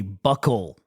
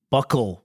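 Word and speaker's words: buccal: fat from your cheeks is called a buckle buckle fat removal not bookle as we were saying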